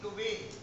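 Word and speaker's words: de Duve: तो मुरैना कहते हैं, ये विदेश के डुबे है, स्पेलिंग वही है लेकिन विदेश के तो डुबे कह रहे हैं, अपन दुबे कह लो ध्यान रखने के लिए।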